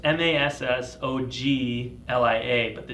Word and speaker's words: Massoglia: you know but yeah the G silent so it's mas s OG Li a but the